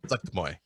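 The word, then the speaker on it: Zuggtmoy: It's apparently it's Zuchtmoy. Like it's the emphasis on the first syllable. The emphasis is on the first syllable. Zuchtmoy.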